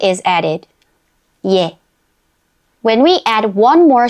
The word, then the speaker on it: 예: 예. When we add one more short stroke to 에, a y sound is added before 에. So it becomes 예.